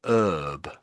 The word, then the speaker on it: herb: They would say an but they would say an herb. So they would miss out the H. They would they never say the H in herb or say herb I should say.